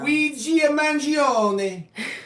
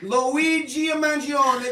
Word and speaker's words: Luigi Mangione: the debate on how you think Mangione is pronounced. Luigi Mangione. Luigi Mangione. That's how you pronounce it. Come on, it's Luigi Mangione.